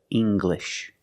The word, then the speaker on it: English: When you have an L after it, it makes the g sound, like English. Make the hard g, English.